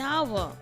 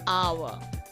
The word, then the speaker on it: hour: orange, an umbrella, an hour. Now here the sound of H is muted, so we can only hear the sound of vowel, that is a. So an hour, an M.